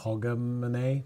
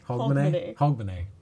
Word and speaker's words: Hogmanay: Hogmanay? No. How do you say it? Hogmanay.